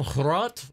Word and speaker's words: Hrot: Like I said, there's this, I think it's a Polish game called Hrot, like H-R-O-T, and I think I'm pronouncing it correctly. I still don't, I've had a couple of people who found the videos who are from Poland, like, tell me I'm pronouncing it correctly, but, like, at the same time, I feel like I'm saying it wrong.